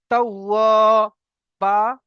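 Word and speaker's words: توابا: না, কানা তাওয়াবা, তাওয়াবা, তা ওয়াও জাবার তাও, ওয়াও আলিফ জাবার ওয়া, তাওয়া, এখানেও আলিফ মাদ্দা এসছে, ওয়াও আলিফ জাবার ওয়া, এটাকে টান দিয়ে পড়তে হবে এক আলিফ পরিমাণ। তাওয়া, বা, বা আলিফ জাবার বা, তাওয়াবা।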